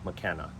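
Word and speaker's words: Makena: McKenna Beach also known as big beach it's pronounced McKenna and if you could keep driving around the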